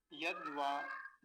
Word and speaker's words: यद्वा: दकार आधा है, वकार पूरा है, यद्वा, यद्वा।